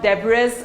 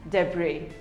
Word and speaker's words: debris: debris it is not debris or debris it is pronounced as debris the bree the s is silent debris we all have